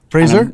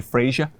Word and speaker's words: Frazer: every time Fraser yeah all the Americans say Frasier Frasier yep yeah we cuz it sounds weird here yeah yeah I pay attention because how it's spelled the details is you know what I ER in your name right its freezer it's like the razor razor freezer no every time on